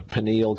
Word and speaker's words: pineal: It exists in the pineal gland. I believe it's pronounced pineal, P-I-N-E-A-L.